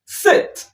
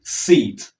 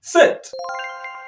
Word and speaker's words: sit: Say sit. Instead of saying seat, you say sit.